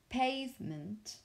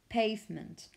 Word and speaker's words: pavement: but also with stress if you want to use the word pavement the stress on the first syllable so pay pavement not on the last